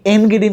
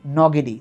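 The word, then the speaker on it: Ngidi: কিনা কিন্তু তোমরা লুঙ্গি এনগিরির নাম শুনছে এখন ক্রিকেট খেলে সাউথ আফ্রিকার দলে। এন্টিনি খুব বিখ্যাত ছিল। উচ্চারণটা এন্টিনি বা এনগিরি না উচ্চারণটা হচ্ছে নটিনি নগেরি। তার মানে লুঙ্গি নগেরী মাখায়া নটি।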